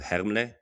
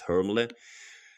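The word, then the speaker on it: Hermle: what's really nice is her as Herm in German, but I think the American audience will pronounce it as Hermlay.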